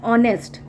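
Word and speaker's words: honest: एन ऑनेस्ट मैन, यहाँ पर तो एच वैसे भी क्या है, साइलेंट है, तो ओ पढ़ रहे हैं, ऑनेस्ट, तो ओ आ रहा है, ओ किस में आता है, अवा में आता है।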